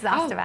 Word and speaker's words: Zostavax: Zostavax? Yes, Zostavax.